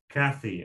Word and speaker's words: Kathy: your name well well if you want to pronounce it in in the true american way it's cathy okay so did i actually say that british pronunciation or is it just dutch version of your name well it was just it it didn't have the long american a in it says kady happy cathy